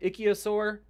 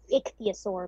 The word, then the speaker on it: ichthyosaur: been a long time ichiosaur mother giving birth is that pronouncing it right it's ichthyosaur but it's pretty close thank you so yes